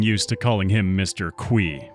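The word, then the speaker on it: Qi: Qui. I've always referred to him as Mr. Key, but in his podcast with Bobby Lee, Eric Baron, Mr. concerned ape himself confirmed that he pronounces it qui.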